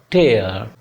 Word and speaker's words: tear: Rare, flare, glare, टेयर, TEAR। जब ये verb होता है, नाउन नहीं वर्ब, तो टेयर पढ़ा जाता है। टेयर इसकी प्रोनाउंसिएशन है। और जब ये नाउन होता है तो टीयर होता है।